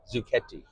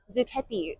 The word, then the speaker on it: Zucchetti: Zucchetti. Zucchetti. The Italian speakers out there know, the Americans say Zucchetti.